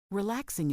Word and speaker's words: relaxing: By the way, relaxing is a great word, but be careful with the pronunciation. Don't emphasize the "g" too much.